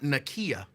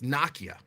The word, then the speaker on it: Nakia: people don't do it it's not Nikia it's Nakia so if I'm wrong